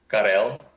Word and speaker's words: Kell: Kell. It's just Kell. All right. It's like Pavl. Yeah, it's like the same uh the same pronunciation.